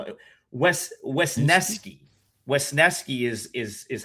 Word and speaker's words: Wesneski: But, like I kind I don't dislike So, what what I I I'll always butcher his name so I got to spell it. Wesneski Wesneski is is is how you pronounce his name.